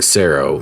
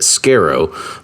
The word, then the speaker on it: Scero: so I just combined the two being Sero not realizing at the time that I kind of gave him more of his last name than I really did mine I really probably should have pronounced it Scarrow but I just never like the way it sounded and he he he